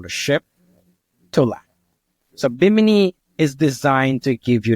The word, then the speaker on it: Bimini: One of the things you mentioned was the beach club at Bimini. Is that how you pronounce it? Bimini. Bimini.